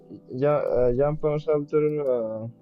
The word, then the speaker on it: Jean-Paul Sartre: Even John Paul Sartre. I don't know how to pronounce it. Jean-Paul Sartre, Victor Hugo.